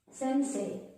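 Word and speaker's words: せんせい: Sometimes we have E after A line of alphabet, like sensei, like this. When E comes after A line of alphabet, the E pronunciation changes to A. The native Japanese generally says sensei, gakusei, like this.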